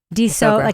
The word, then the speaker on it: D'Sogra: D'Sogra like soda. D'Sogra.